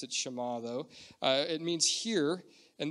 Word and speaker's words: Shema: say hear the word Shema or Shema I pronounce it Shema though it means here and this is the